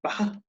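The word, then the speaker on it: beatha: And from this word was formed the general word for life, which is betho in Old Irish and is now pronounced bacha.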